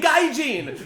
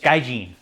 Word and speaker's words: gaijin: Japanese? Gaijin. Oh, the hard G.